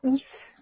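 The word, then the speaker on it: hyphes: nom ilass équilibrium ouis ça vient de if en fait if c'est un mot qui est qui s'écrit h yph e s et les ZIF en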